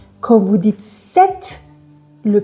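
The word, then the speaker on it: sept: Certaines lettres ne se prononcent pas quand vous dites le X ne se prononce pas quand vous dites 7.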